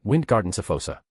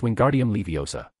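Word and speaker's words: Wingardium Leviosa: He said in a dumbfounded voice, it's Wingardium Leiosa.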